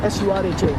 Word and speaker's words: Suraj: How do you spell that? S-U-R... Yep. Suraj, R-A-J. S-U-R-A-J, Suraj.